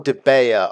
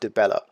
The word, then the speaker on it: Dibella: As such, the goddess Dibella, I wonder if it's Dibella or Debea, I think it's pronounced Dibella, wishes to give you all these gifts.